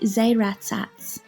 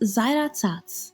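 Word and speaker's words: զայրացած: If we were reading this word in English, we might see Zairatsats, but that's not how we pronounce it in Armenian. The letter A in Armenian is always pronounced A, and so this word is pronounced Zairatsats or Zairatsats.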